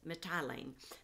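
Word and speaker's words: Mitylene: mit metellie ah shoot i forgot how to pronounce that one mai tai lean methylene there it is methylene the next day we crossed over to caios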